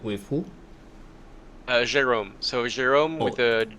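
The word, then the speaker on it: Gérôme: Let me spell it out for you. Yes. with Jerome. Wait, with who? Uh, Jerome. So, Jerome with a G E R O M E.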